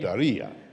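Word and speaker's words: Diriyah: Correct, Daria.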